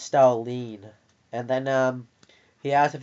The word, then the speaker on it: Stalin: It's pronounced Stalin.